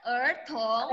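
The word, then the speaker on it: 儿童: Ertong. Bacanya ertong.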